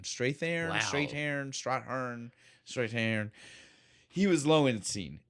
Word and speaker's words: Strathairn: It's Strathairn. Strathairn, Wow.